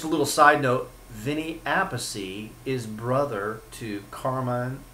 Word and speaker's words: Appice: So they are brothers, but they cannot agree on the proper way to pronounce it. And I believe it is Appice, but Carmine went with Appice because that's what so many people have said.